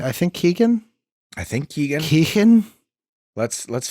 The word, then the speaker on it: Keoghan: I think Keegan.